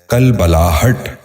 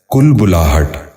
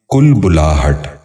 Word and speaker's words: کلبلاہٹ: غور سے سنیے، کفر۔ 12واں لفظ ہے کلبلاہٹ۔ یہ غلط تلفظ ہے، درست تلفظ ہے کلبلاہٹ۔ دوبارہ سنیے، کلبلاہٹ۔ بچوں آپ بھی غور سے سنیے، کلبلاہٹ۔ 13واں لفظ ہے کلوخ۔